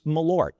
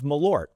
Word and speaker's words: Malört: It's two syllables, but it lingers longer than anybody really wants. That topic is meort.